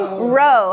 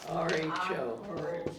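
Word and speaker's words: rho: The next letter of the Greek alphabet would be like blank, blank, blank your boat gently down the stream. Row. How do I spell it? R-H-O.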